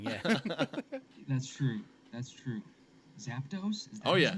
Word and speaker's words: Zapdos: beauty of editing yeah that's true that's true Zapdos is that name zaptos zaptos yes yeah Zapdos would be pretty rad I think go on